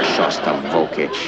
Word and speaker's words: Shostakovich: We're hearing Shostakovich, you know. That's Shostakovich. And since you're a musician, it might not be a bad idea if you learned how to pronounce it.